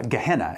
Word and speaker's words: Gehenna: I'm done here uh gehenna is how you say the in the original language means Valley of hom